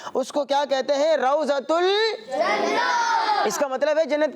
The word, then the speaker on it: روضۃ الجنہ: عام بول چال میں لوگ اسے ریاض الجنہ بھی کہتے ہیں، مگر اس کا اصل تلفظ کیا ہے؟ روضۃ الجنہ.